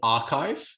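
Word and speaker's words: arXiv: general pre-print repository called archive the x is actually a chi so it's pronounced kai so all of these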